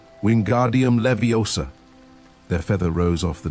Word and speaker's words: Wingardium Leviosa: "Wingardium Leviosa!" he shouted, waving his long arms like a windmill. "You're saying it wrong," Harry heard Hermione snap. "It's Wingardium Leviosa. Make the gar nice and long."